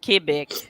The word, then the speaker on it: Quebec: that's how they yeah in english but if you say it in french it's quebec okay have you guys ever